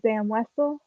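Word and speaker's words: Zam Wesell: I'm just going to show you a character, and you just tell me how do you pronounce this character's name. That's simple. Is that Zam Wessel?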